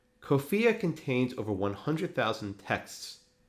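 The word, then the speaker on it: COFEA: founding era american english it's abbreviated to kofiya kofiya c-o-f-e-a that rhymes with sophia kofia contains over 100 000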